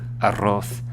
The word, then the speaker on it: arroz: Roll your R's, trill your R's. Remember, arroz, arriba.